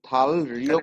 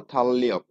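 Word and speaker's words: 달력: এখানে আমরা কিন্তু থাল রিয়ক ক্যালেন্ডার। উচ্চারণ করব না। কি করব উচ্চারণ আমরা? থাললিয়ক।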